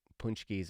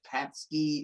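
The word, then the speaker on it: pączki: Ooh, punchkis are the key to life.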